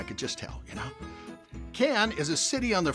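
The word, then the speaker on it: Cannes: just tell you know can is a city on the French Riviera known for the can film festival now can is spelled c a nnes but pronounced can without the S yeah confusing I know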